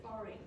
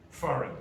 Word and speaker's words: foreign: Foreign. Foreign. And what's the silent letter? G. G.